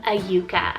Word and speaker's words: Ayuka: little bit more girly i have the name ayuka spell a y u k a a yuka